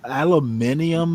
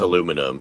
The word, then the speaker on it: aluminum: How do the British pronounce aluminum? Alum aluminium or some like that? Aluminium. Yep. Yeah. It's aluminum. It's aluminum.